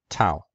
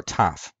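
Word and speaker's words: ταυ: classical Greek is pronounced Tao in Koine in modern Greek it's pronounced either Tov or tough it seems somewhat ambiguous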